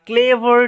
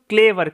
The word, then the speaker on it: clever: Seely king and দ্য ক্লেভার Taylor. এটার উচ্চারণটা হচ্ছে টেইলর, টেলর নয় কিন্তু। ওকে, দ্য সিলি মিন্স হচ্ছে বোকা, কিং মানে রাজা, অ্যান্ড এবং দ্য ক্লেভার উচ্চারণটা কিন্তু ক্লেভার, ক্লিভার নয়।